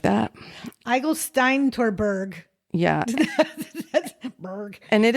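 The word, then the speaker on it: Eigelsteintorburg: Eigelsteintorberg.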